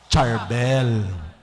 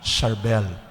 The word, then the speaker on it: Charbel: English speaking country they agag binasa natin yung C ano ang bigkas natin charbel kaya ngayon yung family of sa Chabel in US they ask a permission to use the letter S para kapag S kasi ang basa natin ay Sharbel so in Lebanon yung C they pronounce it as Sharbel At para tayo hindi tayo magkalito-lito ng pagtawag.